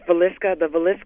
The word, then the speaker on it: Villisca: Yes, Villisca.